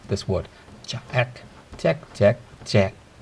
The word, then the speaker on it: 隻: How do you pronounce this word? Jack, jack, jack, jack.